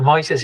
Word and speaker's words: Moises: Is it Moises? I get the pronunciation wrong for sure. It's fine. Moises is fine.